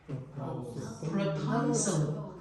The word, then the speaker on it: proposal: And the next word has all the stress in the middle syllable, and that vowel is O. The other two syllables become weak. Propose, proposal, Proposal.